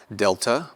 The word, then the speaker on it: delta: Delta will be pronounced as in D, like drive, drive.